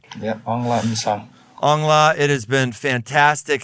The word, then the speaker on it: Aung La N Sang: l a n s a n g yeah on La song angla it has been fantastic having you here